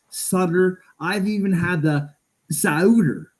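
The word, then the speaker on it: Sauter: name correctly first ever it's always It's s a u tt ER to me seems pretty simple it's Suter it's Suter I've even had the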